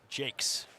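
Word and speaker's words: Jacques: says I remember correctly he does not go by the French pronunciation and it's pronounced Jakes perfect so thank you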